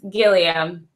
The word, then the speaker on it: Guillemaira: her with us she may the please pronounce your last name because I do not want to say it wrong it's Gilliam Gilliam yes Gilliam aka oka who